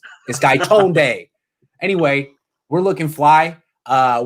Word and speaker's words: Gaitonde: the polo boys are back grand cone sunil guy tone day not guy tony i hear some people saying guy tony i'm like that's not how you pronounce his name this guy tone day anyway we're looking fly uh we're gonna be